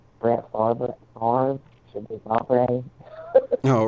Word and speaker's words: Favre: Like Brett Favre should be Favre. Oh, right. Those kind of things, like Brett Favre, not Favre. Because the letters backwards, they're letters backwards.